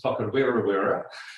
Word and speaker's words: Whakarewarewa: All right, so that forest pronunciation was Whakarewarewa, just for clarification.